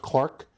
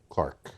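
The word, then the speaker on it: Clerke: to do Agnes clerk it was probably pronounced Clark but it's it's spelled c l r k c ke yeah Clark and are you familiar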